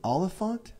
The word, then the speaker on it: Oliphant: I would say Oliphant. Is that how you would pronounce that? Yes, one? Yes, just like Timothy Oliphant, the actor.